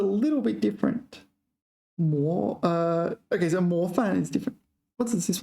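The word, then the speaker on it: 模范: 模范. Sorry, I mispronounced it. 模范. 模范.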